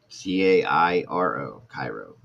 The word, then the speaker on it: Cairo: Monday oh wow yes so his name is Cairo and it's spelled just like c-a-i-r-o Cairo very very beautiful name um